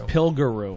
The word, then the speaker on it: Pilgaroo: actually been saying it wrong. It's I thought not it was- Pillaroo. Oh, that was Pillaroo. It's Pilgaroo.